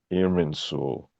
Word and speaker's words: Irminsul: Am I pronouncing that correctly? Irminsul. Irminsul. Yeah, Yes.